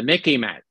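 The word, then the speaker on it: MICIMATT: not the mick but the Mickey mat remember it it reminds it's rhyme sort of with Mickey Mouse okay I'll spell it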